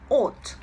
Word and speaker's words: ought: have another one that it's very difficult to write but very easy to pronounce because it is called ot like a long o with a t at the end plus of course infinitive